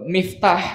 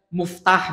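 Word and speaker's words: مفتاح: SF itu kayak eh Miftah Miftah itu artinya alat pembuka dalam bahasa Arab cuma dia bacanya misalnya muftah misalnya atau Maftuh salah diarfnya tapi nahwunya benar harakatnya benar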